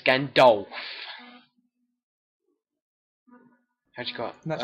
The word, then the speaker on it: Gandalf: Ganondorf. No, it's Gandalf. How'd you got? That's how you pronounce it, yeah.